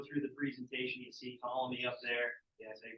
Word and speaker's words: Ptolemy: when we go through the presentation you see Colony up there yes I pronounce it Ptolemy okay that's what it's referring to so he